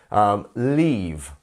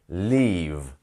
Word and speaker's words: leave: Leave. Get that v sound at the end. Leave.